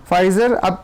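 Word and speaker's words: Pfizer: गई है ब्रिटेन ने फाइजर पी साइलेंट है आप पढ़ सकते हो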